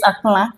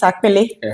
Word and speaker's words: akpala: I never knew it's akpala. They call it. All my life I was thinking it's akpele. We call it because we try to pronounce it in the written form. Yeah. That's why we say akpele.